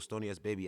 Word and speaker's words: Stoney S Babe: Like, just Google Stoney S Baby, STONEY SBABE. Yes, it's ghetto as fuck. Yes, it's supposed to be pronounced babe, but I do baby.